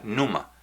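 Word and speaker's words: πνεῦμα: espíritu es numa con pepe numa aunque se pronuncia numa y eso significa soplo aliento o aire y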